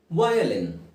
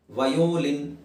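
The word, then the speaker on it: violin: Okay, ಮುಂದಿನ ಪದ ಸ್ನೇಹಿತರೆ ವಯಲಿನ್. ಸಾಮಾನ್ಯವಾಗಿ ಎಲ್ಲರಿಗೂ ಗೊತ್ತಿರುವಂಥದ್ದೇ ವಯಲಿನ್. ವಯೋಲಿನ್, ಯಾಕೆಂದರೆ ಅಲ್ಲಿ ಓ ಇದೆ. ವಯಲಿನ್. ವಯಲಿನ್. ಸಿಂಪಲ್.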